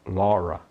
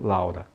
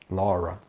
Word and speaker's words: Laura: O nome da pessoa Laura é Laura, e não Laura, Laura.